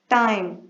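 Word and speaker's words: time: टाइम, टाइम में I long vowel sound है और ई साइलेंट है।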